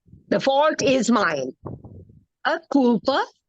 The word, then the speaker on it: culpa: A culpa é minha. A culpa. Culpa. See the way it is pronounced? Culpa. You roll the L. You know, in Portuguese, the L in the middle is usually rolled.